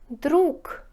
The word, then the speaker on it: друг: говорите с рассказ рассказ друг друг пишите га говорите к друг друг муж муж